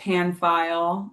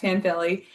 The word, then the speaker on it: Panfilly: Um looks like Panfile uh but it's pronounced Pan Philly and uh they can find me there.